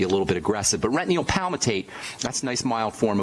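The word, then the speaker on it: retinyl palmitate: I'll tell you what it is, and I'll spell it. It's called retinoyl palmitate, and that's a mild form of vitamin A.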